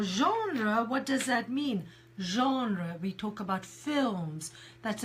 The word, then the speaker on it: genre: there's on so we we pronounce it very much like the French pronounce it genre Michael also came up